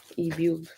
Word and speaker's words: Ebube: like lube, ebube.